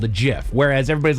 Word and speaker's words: GIF: It's a graphics interchange format and he created it for your acronym to be uh pronounced with a soft G that sounded like the peanut butter brand of GIF.